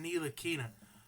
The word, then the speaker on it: Ntilikina: It's pronounced Ntilikina.